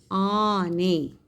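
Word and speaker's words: ಆನೆ: See how I am pronouncing it as a. Ane. This is the right spelling. If you write it as ane, then it is wrong.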